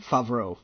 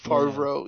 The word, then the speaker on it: Favreau: Jon Favreau, or how do you pronounce his last name? Favreau. Since I'm terrible at names, Favreau.